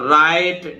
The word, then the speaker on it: write: जैसे रॉन्ग है, रिस्ट है, और भी बताऊंगा, रॉन्ग, रिस्ट, ठीक है, और राइट, WRITE। जब W का नंबर आएगा तब और बताएंगे। तो देखिए रेसलिंग, यहां टी साइलेंट है, रेसलिंग।